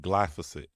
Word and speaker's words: glyphosate: No, I was saying it wrong. It's glyphosate. That's it.